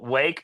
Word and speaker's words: Rwake: and our vocalist, C.T., he tried to pronounce Wake, but in his slurred state, he just said, "Rake." And so, we were like, "Yeah, that's it. We'll just put an R on the front." But, it's hard to pronounce that in just day-to-day um situations. You know, it's hard to just be like, "Rake." So, we still call it Wake.